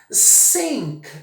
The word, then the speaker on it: sink: Sink significa pia, significa o verbo afundar, significa esgoto.